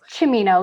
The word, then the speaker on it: Cimino: i know that probably some people say a hard c or a soft c chamino like kind of like pacino okay so italian yes